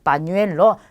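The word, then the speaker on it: pañuelo: 자, 첫 번째 빠뉴엘로입니다. 빠뉴엘로. 자, 여기 있는 우가 뉴가 돼요. 그래서 빠뉴엘로 이렇게 발음이 되고요.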